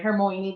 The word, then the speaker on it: Hermione: I think that's how you pronounce it, right? Hermione. That's how we found out on the movies.